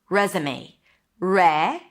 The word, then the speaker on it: resume: And it's confusing because it's spelled with an S, I know, but it's pronounced as a Z. Res. May. A is in day. May. Res. Resume.